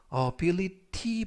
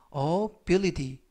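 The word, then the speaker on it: ability: 라고 발음 하시면 되겠고요 이때 알파 베티는 부드럽게 트가 아니라 드 발음의 가깝습니다 그래서 어빌리티 보다는 업 영이 d 라고 발음 하시면 좋겠고요 품사는 명사 뜻은 능력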